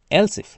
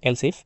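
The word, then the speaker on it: elif: এলসফ মানে হচ্ছে এস এইযে এলসফ মানে হচ্ছে যদি ওকে এটা হচ্ছে অথবা যদি মানে হচ্ছে মানে অনেকে এলে বলে তোকে এটা হচ্ছে মূলত উচ্চারণ হচ্ছে এলসফ যেটা হচ্ছে এলস মানে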